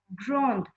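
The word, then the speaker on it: grands: So it has become grand, grand. Children, make sure that whenever we add one S to the plural form, we don't pronounce that S of the plural form.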